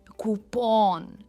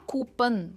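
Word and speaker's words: coupon: ये है कूपन एंड नॉट कूपन. काफ़ी सारे लोग इसे कूपन कहते हैं, जो गलत है.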